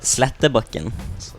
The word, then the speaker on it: Slettebakken: How do you pronounce your last name? It's Slettebakken.